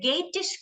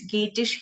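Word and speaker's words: Geatish: story this is a scandinavian story of the gatish king beowulf beowulf is a king okay bjorph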